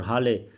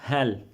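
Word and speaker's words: هل: of the sentence Hal no it's not pronounced Hal or Hal it's pronounced hell hell he pretend that he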